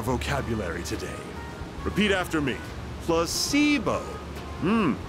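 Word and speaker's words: placebo: today repeat after me placeo H the stress is on the middle syllable PLO very good you're feigning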